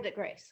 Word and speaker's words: Havre de Grace: Havre de Grace. Havre de Grace. Okay, Oh, I didn't know how to pronounce it.